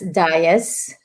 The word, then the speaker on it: Dias: we pronounce it as Dias, and in English way.